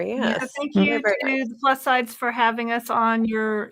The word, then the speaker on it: Plus SideZ: casting sides plus sides sorry is silent is silent right well it's like sides like many side because it's the plus sides of gop1 medication so and we just do a z because plus sides is taken oh yeah so we're